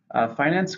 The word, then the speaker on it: finance: 2 syllables, stresses on the first.